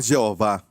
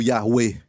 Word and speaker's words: Yahweh: Não é Jeová. Ninguém sabe a pronúncia, mas como que eles falavam, se escreve assim, ok? Yahweh. Eu creio, pessoalmente, que é falado Yahweh.